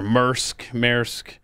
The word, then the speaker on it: Maersk: So the company, I don't know how you pronounce it. You see their stuff everywhere. Maersk.